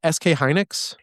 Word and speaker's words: SK Hynix: it's SK Hynix.